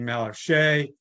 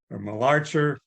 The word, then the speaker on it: Malarcher: At the same time, David Malacher, who some people pronounce his name Malarche or Malarcher. Back in 1978, I had no idea how his name was pronounced, so I always just called him Malacher because phonetically that kind of looks, in terms of how it's spelled, that's kind of how it looks to me.